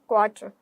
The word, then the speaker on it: quarter: क्वार्टर, यहाँ पर आर silent होता है, फाइन, ओके।